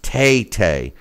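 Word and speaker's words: Tete: his last name is pronounced Taytay instead of t two syllables instead of one so apparently us mispronouncing zolani Tay Tay's last name has really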